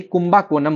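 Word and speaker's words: Kumbakonam: और इसीलिए इसको कुंभा कोनम नहीं कुंभा कोनम बोलते हैं।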